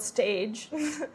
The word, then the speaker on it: stage: So a stage is spelled stage. Um is basically just a tryout French so you need to pronounce it stage.